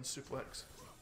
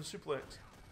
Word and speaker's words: suplex: suplex and uh because i've never heard of the word suplex before i didn't know how to pronounce it i thought like but i've heard of the word souffle before so so i thought it was german souffle german souffle um just because i